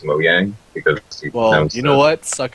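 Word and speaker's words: Mojang: the way you actually the way you actually pronounce their company name because of Swedish is Mo Yang because you know what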